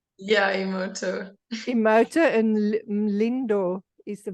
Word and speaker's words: Emoto: Layla, how do you pronounce Emoto? Emoto, is that correct? Yeah, Emoto.